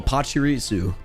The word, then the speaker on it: Pachirisu: to be Pikachu EX de is it pisu Pachirisu pisu I think that's how it's pronounced right pusu p p oh Pachirisu Pachirisu that's what it's how it's called pusu